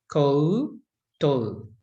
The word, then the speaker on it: koutou: Now, the koutou, you'll even hear me say, it doesn't sound like it's got a separate, you know, o, o. We kind of talk a bit quick, but actually the proper way to say it is koutou.